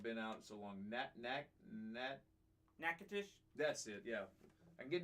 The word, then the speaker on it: Nacogdoches: out so long that nakatish that's it yeah I get Nacogdoches down all the time because it's one of those cities that's not pronounced as it's spelled uh the the demons